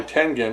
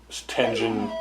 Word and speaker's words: Tengen: I've always called them Tengen, even though I guess it's pronounced Tengen. But because it looks, in our language, I think, the way it's spelled, T-E-N-G-E-N, would be Tengen. It rolls off the tongue.